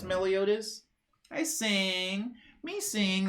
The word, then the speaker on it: Meliodas: Good day, Meliotti, says Brunetic. I was saying it wrong. I'm sorry, Meliodas. Meliodas.